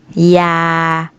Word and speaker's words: อยู่: หญิง ย่า หมา หมี หมู อ่าหนู หรือ หรูหรา อย่า อยู่ อย่าง อยาก ขนน ขนม ฉลาก ฉลอง คำ